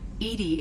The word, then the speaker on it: EDI: Why are you named Edy? Edy is is the phonetic pronunciation of EDI.